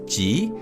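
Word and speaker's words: ぢ: voice the D sound however there were two exceptions the second character is pronounced as G and the third character is pronounced as Zoo so in essence they are pronounced exactly the same as G and Zoo from zedro now an important point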